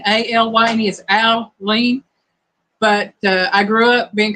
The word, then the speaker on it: Alyne: KT Spirit, my name is technically pronounced Aline, A-L-Y-N-E is Aline, but I grew up being called Eileen, like I lean on Jesus, you know, that way.